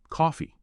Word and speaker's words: coffee: Then coffee. Stress is on the first syllable.